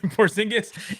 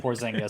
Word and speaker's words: Porzingis: just flipped you up porsingis and uh rick carlisle and donnie nelson you're flipping porzingis off you said it right when you said porzingis so we'll go with that and isaac and i